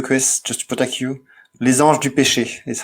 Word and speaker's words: Les Anges du Péché: Okay, so before the police gets to you, Chris, just to protect you, Les Anges du Péché is how that's pronounced.